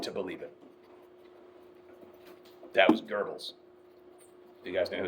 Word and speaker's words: Goebbels: That was Goebbels. Do you guys know who that was? He was the propaganda minister for Nazi Germany. Question. Why is it pronounced Ger when it's like G-O-E? German. It's German.